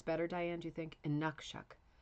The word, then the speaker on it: Inukshuk: Inukshut. Oop, I almost said a bad word. Inukshuk. Inukshuk. Inukshuk. Hopefully that, I think maybe that's better, Diane, do you think? Inukshuk. Emphasis in the middle syllable.